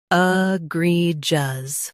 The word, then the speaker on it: egregious: Today, we will learn how to pronounce the word shown on the screen. Egregious.